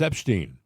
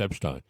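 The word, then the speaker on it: Epshteyn: A couple of nights ago at Mar-a-Lago, Elon Musk got into a loud shouting match with Boris Epstein, or Epstein. I think it's pronounced Epstein.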